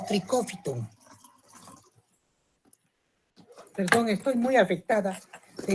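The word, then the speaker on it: Trichophyton: Los géneros más importantes de los dermatófitos son el tricofiton, que se escribe así como están viendo, trichofiton y se lee como tricófiton.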